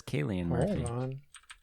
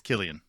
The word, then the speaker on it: Cillian: as salient before i've always heard it as kayleen i'm looking up a pronunciation now i am too it's a hot debate but why does this pronunciation video need to be 40 seconds long it is killian killian murphy kelly and murphy anyway jim was